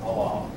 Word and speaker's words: Allah: what name Allah again when I was a kid my teachers pronounced that Allah but now we're pretty sure it's they pronounce it Allah um do Muslims tend